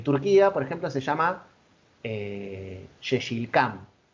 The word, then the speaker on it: Yeşilçam: En Turquía, por ejemplo, se llama Yeşilçam, o Yeşilçay se pronuncia, es turco, que quiere decir pino verde,